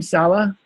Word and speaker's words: Salah: And Salah, is that the right way to say your name, Salah? Salah. Yep.